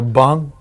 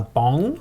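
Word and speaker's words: bún: Remember, you got to put your bun, which is your... My bong? Bun. B-U. B-U, that is the way they pronounce rice noodles.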